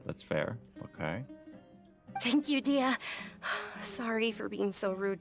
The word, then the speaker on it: Dehya: That's how you say her name, Dehya.